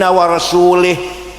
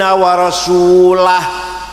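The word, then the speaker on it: وَرَسُولُهُ: Ono wong maca Quran salah, wa annallaha bari'um minal musyrikin wa rasulih. Allah tidak melindungi orang musyrik dan tidak melindungi Rasulullah. Salah. Bacanya harus wa annallaha bari'um minal musyrikin wa rasulah.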